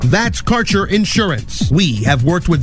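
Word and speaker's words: Kaercher: flavor your connection to Quality cannabis Insurance Services is spelled k a e r c h e r that's carer insurance we have worked with Ventures like cannabis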